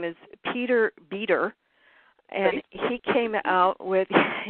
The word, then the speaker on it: Beter: I forget the name exactly, but he on the internet, if people want to go to his audio letters, his last name is spelled Beter, Peter, and he is gone now,